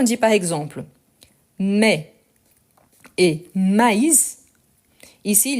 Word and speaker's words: maïs: Mais quand on dit par exemple mais et maïs, ici il y a un tréma. Donc on doit bien prononcer le i, donc maïs, et en plus je prononce le s.